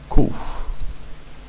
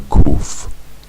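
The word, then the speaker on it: קוף: Now, in modern Hebrew, the kuf is pronounced like it's just a plain old K, but the kuf is not a K.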